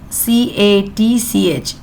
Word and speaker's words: catch: see the word catch c a t c h T is silent catch we cook it